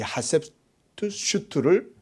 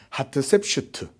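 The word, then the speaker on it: Hatshepsut: 이 하셉투슈트를 이제 그 결혼하게 해요. 그 왕족끼리의 결혼이 된 거죠. 누이끼리 결혼한 거예요. 자, 이렇게 했는데 아이가 없는 거예요. 그 발음도 어렵네. 하트셉슈트. 우리말로 하면 하트셉슈트예요.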